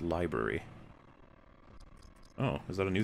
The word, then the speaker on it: LBRY: Also, all of you should mirror your content on LBRY pronounced library.